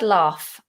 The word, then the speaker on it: laugh: the word laugh okay there's two versions if you're going for british rp or any southern variation of british accent then we do a long vowel ah laugh and it's an f ending laugh laugh there are um